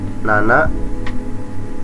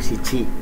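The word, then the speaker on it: 七: lima go en roku tujuh Nana boleh siici ya Jadi untuk angka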